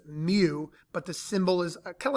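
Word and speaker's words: mu: use the symbol Mew it's a Greek letter pronounced Mew but the symbol is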